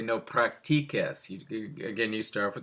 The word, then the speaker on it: practiques: to be pronounced no practices. And you don't want to say no practices. To make a K sound in front of an E or an I, you always have to use a QU.